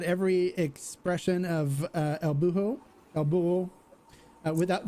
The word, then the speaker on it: Buho: expression of uh el buho abuel uh without the h is silent just just gringos we